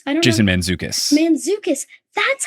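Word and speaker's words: Mantzoukas: Mendoza I think how I don't Jason manukas manukas that's how you say his name okay it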